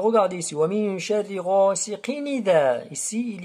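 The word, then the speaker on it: غَاسِقٍ إِذَا: Alors regardez ici, wa min sharri ghasiqin idha. Ici, il y a le mot idha. On passe directement de qaf jusqu'à dhal. On ne prononce pas le hamza ici.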